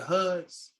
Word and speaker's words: Hud: day are they the hoods your hood your parents yeah so I'm a So Hood is HUD is my last name it's pronounced h-o-od it's Arabic for h-o-od but there are foods